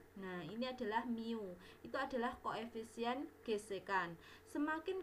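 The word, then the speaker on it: μ: di persamaan seperti ini Ini bacanya Miu nah ini adalah Miu itu adalah koefisien gesekan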